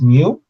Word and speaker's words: mu: That's mu.